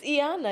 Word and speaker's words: Iyanah: No, it's Iyanah.